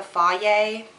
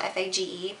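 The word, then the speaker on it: Fage: or the um the fa it's spelled f a g e I always call it f cuz it's more fun um but yeah Greek yogurt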